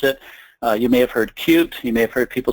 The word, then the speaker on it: Qt: You may have heard Qt, you may have heard people say Qt. The official way to pronounce it is actually Qt.